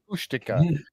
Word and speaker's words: Kushtaka: No, I wrote it down phonetically so I can remember how it's pronounced, but it was Kushtaka.